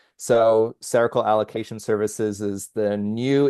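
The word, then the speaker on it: Cercle: That's like sounds like the word circle but it's spelled C E R C L E. So cerakal allocation services is the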